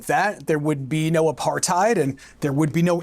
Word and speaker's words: apartheid: So I'm just going to drop that word in here, apartheid. And yes, despite the H, it is pronounced apartheid.